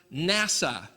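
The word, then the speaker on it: נשא: Well, the word Nun Shin Aleph, interestingly enough, is pronounced NASA. Hey, that's like NASA.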